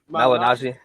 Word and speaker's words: Malignaggi: Malignaggi.